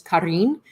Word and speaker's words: Corinne: Like her name is like the traditional Corinne. pronunciation is Karin. So it's Yeah. Arin. She's been called Karen.